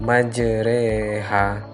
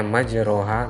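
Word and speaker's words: مجريها: surat pun ayat 41 majreha meskipun tulisannya majroha Tapi bacanya majreha kemudian Islam Surat Yusuf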